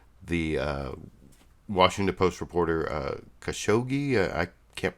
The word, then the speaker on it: Khashoggi: Washington Post reporter uh Khashoggi I can't pronounce it that's why I haven't been saying his name Jamal khashoggi Khashoggi people pronounce the g's different ways but here you'll see